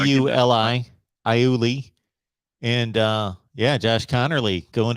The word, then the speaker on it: Iuli: Yeah, it's Iuli. Definitely don't know how to spell it. IULI.